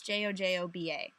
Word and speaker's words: jojoba: after a shower, rub your earlobes with like jojoba oil. I don't know how to actually pronounce that word. I don't think I've ever seen how it's pronounced. It's jojoba.